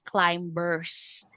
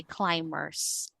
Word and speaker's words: climbers: So this is actually a word with silent b. So we don't say climbers. Okay? we say climbers and then we have